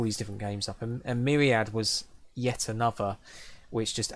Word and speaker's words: Myriad: you'll see in a bit actually used to pronounce this mirrior not call it myriad but used to call it my raid for some reason and I used to do